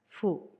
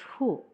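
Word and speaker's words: フ: Katakana fu, pronounce as fu. Fu. Fu. Remember, it is not hu, even if it belongs to H group.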